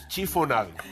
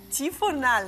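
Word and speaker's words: chiffonade: Chifonade. Chifonal. Sí, chifonade. Se escribe Chifonade. en francés non se lee, pero é chifonade.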